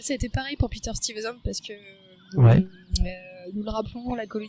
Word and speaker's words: Stuyvesant: et il sera donc remplacé par un certain Peter Stuyvesant. Exactement, tu le prononces très très bien. Tu t'es entraîné? Peter Stuyvesant.